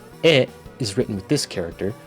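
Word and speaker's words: へ: For example, "wa" is written with this character, which is normally pronounced "ha". "E" is written with this character, which is normally pronounced "he".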